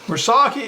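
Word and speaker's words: Murasaki: Mursaki is a potato that's a newer variety developed in Louisiana.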